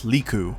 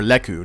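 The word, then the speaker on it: lekku: Those head tentacles are known as Liku, or Leku, depending on how you want to pronounce it.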